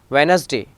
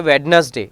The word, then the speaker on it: Wednesday: Now letter D, normally silent before N or G. Wednesday, it is not a Wednesday, it is a Wednesday.